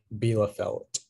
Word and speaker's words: Bielefeld: 1250 below felt uh are there any alternate pronunciations it's just the one bela felt um bela felt yeah b i e l